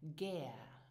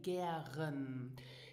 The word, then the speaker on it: gär: Now listen and repeat after me for the correct pronunciation, gär. Now you will hear as well native speakers say gären.